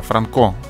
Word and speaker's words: Франко: по улице ивана франко я кстати ударение da franco сказал пять неправильно франко ивана франко там несколько